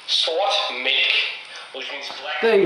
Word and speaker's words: Sort Mælk: Jakob and Pierre, to tell you how to pronounce it. It's Tool Sort Mælk, which means black.